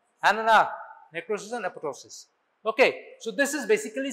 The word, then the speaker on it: apoptosis: There is death of the cell, irreversible cell injury, which is manifested by necrosis and apoptosis. Manifested as necrosis and apoptosis. It's apoptosis. P is silent. Second P is silent.